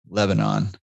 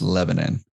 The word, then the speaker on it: Lebanon: I always thought it was Lebanon. It's Lebanon.